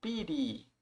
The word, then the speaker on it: pity: Essa palavra aqui pit, a gente pode falar pit ou piri. Piri é uma é uma versão é mais a pronúncia americana. That the little swallow was filled with pity. que a pequena andurinha foi tomada de compaixão. E Pit é a pronúncia mais inglesa, britânica.